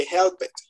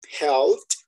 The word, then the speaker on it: helped: No vayan a decir que help it, porque automáticamente le digo, hágame el favor y me escribe otra vez, me envía otra vez el audio porque le quedó mal pronunciado. ¿Sí? La pronunciación correcta sería helped, porque termina en P,